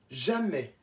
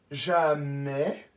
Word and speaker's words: jamais: Jamais, avec le S qui ne se prononce pas.